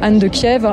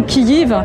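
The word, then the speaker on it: Київ: une reine, Anne de Kiev, on dit Kiev en ukrainien. S'il vous plaît, arrêtez de dire Kiev avec un F. Déjà en français, ça ne s'écrit pas avec un F. C'est la translittération russe.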